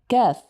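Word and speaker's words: كاف: So repeat after me the letter CF kef kef kef.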